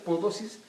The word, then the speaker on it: Mpodozis: Si usted quiere buscarlo en internet, no lo escriba con P, porque se pronuncia Podosis, pero empieza con M.